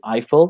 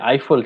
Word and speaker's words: Eiffel: going to visit the Eiffel Tower interesting pronunciation there because in English we say Eiffel Eiffel Tower almost sounds like an iPhone yeah rifle Eiffel iPhone nice Braille so kind